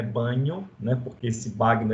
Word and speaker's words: Bagno: A pronúncia original do nome dele é Bagno, né? Porque esse Bagno é do italiano, mas a gente vai chamar aqui de Marcus Bagno, tá bom?